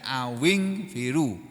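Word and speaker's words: أَوِ انْفِرُوا: Sini bacanya awing firu, awing firu. Tapi kalau diputus itu dari kata au sama ing firu.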